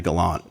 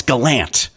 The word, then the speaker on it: Gallant: funny to point out I say I say you know Galant right and my whole family says no it's Galant and they're really even